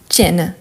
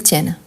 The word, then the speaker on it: tiennent: Pour avoir les sons ouverts, qu'est-ce que je vais faire? Je vais doubler mon N. Et ensuite, j'ajoute ENT. Donc, on a ils tiennent. Ils tiennent.